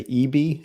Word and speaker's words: EBII: Yeah, so this is called, I believe it's pronounced the EB. It's spelled EBII.